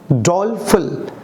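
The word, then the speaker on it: doleful: इसका जो प्रोनाउंसिएशन होगा फल, डॉलफुल, डॉलफुल, हल्का सा, ठीक है।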